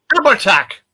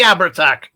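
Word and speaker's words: Abhartach: it's called the oh I've got try to pronounce this properly ABAC aback what J this is the ABAC a b h a r t a c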